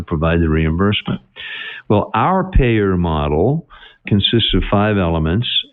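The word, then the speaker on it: PAEER: a model and the acronym for the model is pae eer five letters pronounced payer now hopefully you're getting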